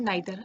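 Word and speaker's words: neither: सो in English we have 3 distributive pronounce: each, आइदर एंड नाइदर. आइदर एंड नाइदर को हम ईदर एंड नीदर भी कई बार सुनते हैं. That pronunciation is also correct.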